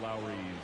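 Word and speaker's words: Elehuris: The first baseman, Lowry's Montero.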